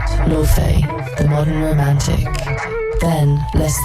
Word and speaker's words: Laufey: Laufey Lien Bing Jonsdottir, known simply as Laufey, pronounced Laufey, took the stage, and suddenly it was 1955 and 2025 all at once.